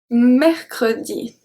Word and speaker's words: mercredi: at the beginning of the word we have mechrodi this one is complicated to pronounce so here the uh are pronounced two